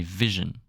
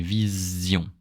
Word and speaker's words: vision: And when there's an S between two vowels, in French it's pronounced like a Z, not like a J. You know. Example: in English you say vision.